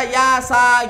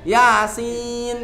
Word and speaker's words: Yasin: Jadi jenengan tidak baca yasa gitu. Ada itu di Pucang Gading, istri saya pernah dengar baca yasa. Loh, kan kaget tuh Pak. Padahal bacanya yasin, kan begitu ya.